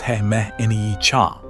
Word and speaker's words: He Mni Can: The oldest name for this place is He Mni Can, a Dakota name usually pronounced He Mni Can.